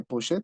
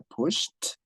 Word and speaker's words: pushed: Ok, no se pronuncia push it, se pronuncia pushed.